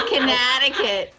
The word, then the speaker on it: Connecticut: to let you know if you're from Connecticut you pronounce uh T's is D's yeah I hit a button but up here we say Conneticut in Conneticut put on